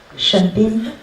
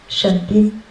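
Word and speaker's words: 沈斌: 네 이름은 신빈인데 신빈은 중국어로 발음이 어떻게 되는 거야? 沈斌。 네? 沈斌。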